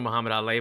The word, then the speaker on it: Mahamed Aly: A little bit different spelling than the original Mahamed Aly, but it's pronounced the exact same way.